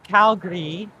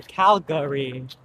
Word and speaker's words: Calgary: Locals will say Calgary and people from outside of Calgary will say Calgary.